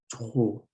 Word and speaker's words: trop: So trop, you don't pronounce the P and you pronounce the TR with like the regular O that you would say in like the word go or show, but it's trop. It's hard to pronounce, but make sure you pronounce the T the same way you would in English. Add the right after it, and then the O.